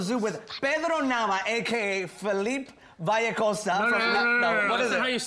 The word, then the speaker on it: Filipe: with Sparrow now aka Philippe vehicle Sal what is it I see how do you say your name we focused I am definitely almost like there's no e in the middle yeah little leap kind